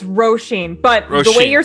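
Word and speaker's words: Róisín: It's Roshin, but the way you're saying it is the American pronunciation, so it's not entirely incorrect. Roshin is just the Celtic Gaelic way of saying it.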